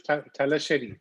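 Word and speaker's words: Thalassery: bombay yeah so uh the correct way to pronounce it is tala sherry not cherry alex all right tell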